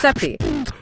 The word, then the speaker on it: Sepe: It's created by David Seppie. Pronounced that way. Pronounced Seppie.